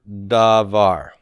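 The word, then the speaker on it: דָּבָר: divide this into syllables i would divide it right here da var where's the tone first or second syllable second and da is pre-tonic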